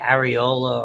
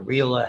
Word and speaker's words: areola: The areola or areola, however you want to pronounce it, okay, around the nipple, that it's pigmented area and distinctive.